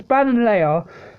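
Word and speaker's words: Ballonlea: It's Bananlea, the Bananlea gym, and basically, Opal makes them wear pink stuff.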